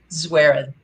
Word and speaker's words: Zwerin: is it zerwin swearing swearin swearin it rhymes with swearin exactly okay i've got